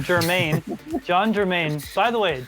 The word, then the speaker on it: Germain: Germain. John Germain. By the way, John Germain, I'm not saying your name wrong on purpose.